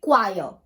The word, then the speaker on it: choir: हैं उनको कहते हैं क्वायर. क्वायर ऑफ सिंगर्स, इट्स क्वायर, CHOIR. जैसे हम चेयर का स्पेलिंग लिखते हैं वैसे ही बस वही सेम स्पेलिंग है, बस O लगा दो.